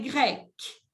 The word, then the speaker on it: grecque: Mais se pronuncian igual, se escriben diferente, pero se pronuncian igual. Par exemple, je dis, je suis grec, ma mère est grecque.